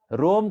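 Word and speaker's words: Roma: तो रोम कहते हैं, वहाँ के लोग प्रोनाउंस रोमा करते हैं, वो तो थोड़ा सा अ है अंत में।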